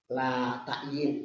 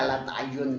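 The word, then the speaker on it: لا تعيّن: Wa martabatuhu martabat la ta'yin, ada juga orang membaca la ta'yun ya. Salah aja bacanya itu.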